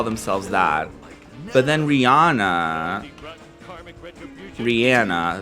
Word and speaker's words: Rihanna: that but then rihanna rihanna that's actually how you say her name did you know that